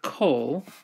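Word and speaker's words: כל: And so then in each case, when there's no accent, the holom is reduced to a comets katon. And so you know it's a comets katon when it is in a closed, unaccented syllable. And so the word kol, here it's closed. You have consonant, vowel, consonant, and it's unaccented because the accent has moved later in the word to the word to which it's connected.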